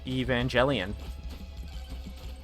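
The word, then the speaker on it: Evangelion: It's it's a it's it's a it's J it's J evangelian. It's not a hard G.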